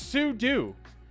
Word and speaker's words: sudo: Am I the only one who pronounced it sudo? It's sudo, because you're switching user and you're doing. Switch user and do.